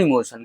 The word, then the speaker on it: emotion: इमोशन है ना, इमोशन बोलेंगे गाइस, यहाँ पे ट जो है ना टी साइलेंट है, ठीक है, इमोशन नहीं पढ़ना, ठीक है, इमोशन।